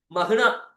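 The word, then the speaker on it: مهنة: மிக என்பதை காட்டிலும் குறிப்பானது இதை சிலர் கசராவுடன் மிகனத் என்பதாகவும் சொல்கிறார்கள் சிலர் மகனத் என்பதாகவும் சொல்றாங்க மீக்கு கர வச்சு மிக சொல்றாங்க வச்சு மகனத் என்பதாகவும் கூறுகிறார்கள் இன்னும் அஸ் ரலியல்லாஹு அன்ஹு அவர்கள் கூறக்கூடிய விஷயம் என்னன்னா சரியான உச்சரிப்பு மஹனா பதஹத்தை கொண்டு வரக்கூடிய மஹனா என்பதுதான் சரியான ஒரு உச்சரிப்பு என்பதையும் இங்கு அருமையாக நமக்கு சொல்லித் தருகிறார்கள்.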